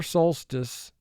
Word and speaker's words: solstice: of the year solstice first syllable is soul three sounds stis four sounds soul stis pause the video mark the word and then advance the video soul stis here one is underlined in the first syllable because we have an exception to vowel group one the o in this word is long not short c e is a